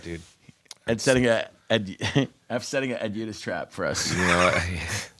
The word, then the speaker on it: Udhus: I was going to say Hudus, so I'm glad I asked. Udhus. Ed Udhus. That's a weird Or one. the traditional pronunciation is Udhus. In Norway, yeah. Norway. It's actually with a T. Udhus.